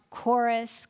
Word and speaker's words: chorus: this sound how about chorus chord chemistry CH and what pronunciation and what we know is eh doesn't occur in Latin words but we will find